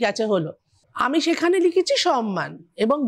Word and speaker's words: সম্মান: হলো আমি সেখানে লিখেছি সম্মান এবং বানানটা লিখেছি নয়ময় আমরা ছোটবেলা স্কুলে পড়েছিলাম সম্মান মানে হচ্ছে বানানটা নয়ময় উচ্চারণ হয় ময়ময় এটা শিখেছি এক ভদ্র